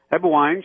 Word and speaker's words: Eberwein: and today we've got on the radio ewine she is the president managing director of the